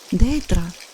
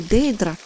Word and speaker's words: Дейдра: едва взглянула на него дейдра её сердце подпрыгнула а затем замерло только один человек когда-либо произносил е имя так с лгм ударением на Первом слоге что ласковость она повернулась